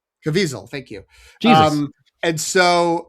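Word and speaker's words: Caviezel: It was poor Ben Chaplain, who I thought was Jim Cav Caville. Cazaville, I forget how to pronounce his name. Cavisel, thank you.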